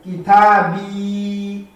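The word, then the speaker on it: كتابي: Então, a palavra é kitabi, quer dizer, meu livro. E atenção, ao terminar com o pronome, eu tenho que alongar a sílaba. A última sílaba, neste caso.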